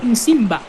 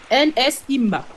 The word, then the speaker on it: Nsimba: Non, pardon, Nsimba, pardon. N-S-Imba. Nsimba. Et le second s'appelle Nzouzi. Comme ça se prononce.